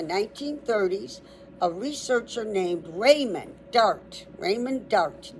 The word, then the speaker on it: Dart: During the 1930s, a researcher named Raymond Dart, Raymond Dart, D A R T D art, like art dart, examined a small skull.